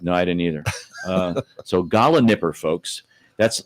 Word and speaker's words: gallinipper: Gala Nipper. Gala Nipper. And Okay, you but want to it's- spell it? I will spell it because Okay. it's not pronounced like it's spelled.